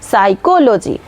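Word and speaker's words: psychology: साइकोलॉजी spelling help पे साइकोलॉजी spelling दो पी ताहेन कना बट पी दो साइलेंट साइकोलॉजी आर किछु जायगा रे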